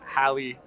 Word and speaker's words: Halle: Is it Haley or Holly? Halle. Okay. All right, well, if I got to do the Memphis movie Yeah. and play Huey, I would want Halle Bailey Yep.